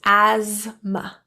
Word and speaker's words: asthma: The TH is silent, pronounced asthma.